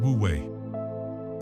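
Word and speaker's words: wu wei: This concept is called woue pronounced wooue.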